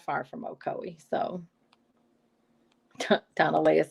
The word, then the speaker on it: Ocoee: and they were like ocoee and i was like okay i can see how that is and i thought it was like oh zoe or something or so and so it's ocoee and now i live